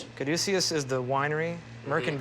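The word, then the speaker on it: Caduceus: Now, how how do I pronounce it again? I always want to say Kaducius. Kadusius. Kaducius is the winery.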